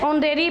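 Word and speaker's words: honorary: ही is dash ऑनरेरी prime minister, H sound, H क्या आ रहा है, साइलेंट है, ऑनरेरी की साउंड आ रही है, तो क्या आएगा, एन।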